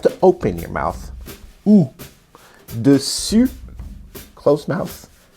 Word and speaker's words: dessus: Okay, so dessus means on top of, and it's spelled with a double S-U-S. And dessous means bottom, and it's spelled with a double S-O-U-S. So to make an U in French, you have to close your mouth. You have to like pucker your lips. U, like that.